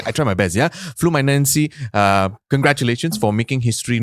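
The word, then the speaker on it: Fluminense: is pronounced as flumen it sounds like flu my Nancy but I try my best yeah flu my Nancy uh congratulations for making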